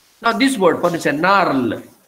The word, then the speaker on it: narl: Now this word, for instance, narl. It is narl, N-A-R-L, and not nal. That's a dialectal pronunciation.